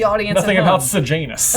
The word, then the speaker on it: Sejanus: Sejanus. Ah, yes, a name that totally is spelled how I expected it to be. And is a name I've heard before. I definitely thought it was Sirjanus, 2 words.